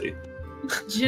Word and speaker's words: Genasi: It's pronounced common- Genasi.